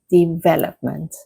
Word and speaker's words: development: The correct stress is on the second syllable. So it is development.